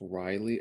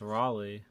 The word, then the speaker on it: Raleigh: didn't know that the main character's name was riley or rayleigh raleigh riley north carolina i always thought it was riley and everyone's just saying it wrong oh it's raleigh yeah because like the australian guy something like